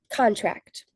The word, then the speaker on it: contract: Contract, primary stress on syllable tract.